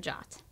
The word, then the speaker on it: JWT: Firebase gives you complete control over authentication by allowing you to authenticate users or devices using secure JSON Web Tokens, pronounced JOT.